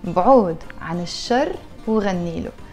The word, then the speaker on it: بعود عن الشر وغني له: Arabic countries too, but in the Lebanese accent we pronounce it in this way. We say بعود عن الشر وغني له.